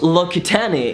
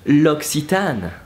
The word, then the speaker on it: L'Occitane: telling you oh no it's not lucky tani it's a looksie tan so number one L'Occitane importance so L'Occitane province look like oh but with lesser and Nora oh so role very see like ksi but you replace the via e and you try to say it really quickly so it's like que